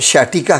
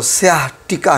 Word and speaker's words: sciatica: इस बीमारी को उर्दू में अर्कन निसा कहते हैं और इंग्लिश में इसको जो शैटिका कहते हैं, लेकिन जो इसके स्पेलिंग्स हैं, जो सही इसकी प्रोनाउंसिएशन है, उसके हिसाब से इसको स्याटिका कहते हैं।